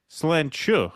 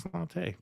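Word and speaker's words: sláinte: Ravid Laz says, fellas, the Gaelic word slante is pronounced slenchu. I didn't know that. I never knew that. I always thought it was slante.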